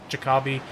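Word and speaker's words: Jacobi: brought in famous actor his name is pronounced Jacoby I love playing Jacoby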